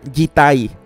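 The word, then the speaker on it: 実体: sustancia es una especial, que en japonés se pronuncia jitai.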